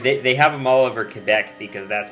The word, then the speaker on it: Quebec: If you go to Quebec, it's pronounced Quebec. Because you say it because they like French people there. I know. I took French, so that my teacher drilled that into my head.